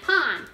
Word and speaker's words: pan: want to say it but it sounds like pan and it's spelled pan so this is a memory trick think of bread in a pan bread pan pond pond bread bread pond it's like you're making